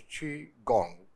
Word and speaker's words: Qigong: force so let's see Chong in detail chiong pronounced as chiong is a TCM traditional Chinese medicine healing practice